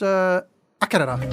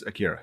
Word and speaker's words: Akira: Yeah, we watched AKIRA.